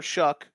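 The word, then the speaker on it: Shough: He's supposed to be, but they did draft Tyler Shuck. That's how you pronounce it.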